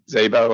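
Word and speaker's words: Szabo: And I know that, is it Zabo? Am I pronouncing that correctly? Yes, that's correct.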